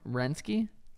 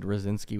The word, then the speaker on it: Rosinski: this Robert rensky or how do you say rensky was it he said rosinski oh rosinski that looks right Robert rosinski some kid in